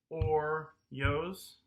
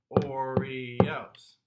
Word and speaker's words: Oreos: So would it sound right if I went or-yos? No, because I said it in 2 syllables rather than 3. Okay? Oreos.